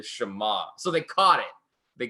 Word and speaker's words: Shema: percent chance but Jesus would have called it the Shema this is they had to go back and rerecord over it then pronounce it correctly the Shema so they caught it